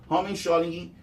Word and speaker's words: homeschooling: A professora Dorinha Seabra destacou que o Homeschooling, ou educação domiciliar, tá? Na verdade é homeschooling. Homeschooling, essa é a pronúncia correta, tá?